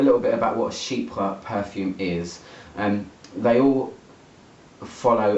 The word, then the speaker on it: chypre: So, okay, about this perfume, it's a chypre floral, or if you say it properly in French, it's chypre, but I'm not very good at French.